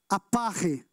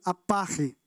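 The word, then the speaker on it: ἀπαρχή: Mas ela em grego, ela se pronuncia dessa maneira, aparre. Diga, aparre.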